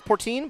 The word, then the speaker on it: Portin: It's the P O R T I N. Pretty sure that's Portine, but if I'm pronouncing it wrong, any Princeton fans, I do sincerely apologize.